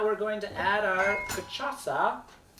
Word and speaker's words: Cachaça: Our Cachaça. cachaça. And the last C has the little extra C underneath it, which means you pronounce it like an S.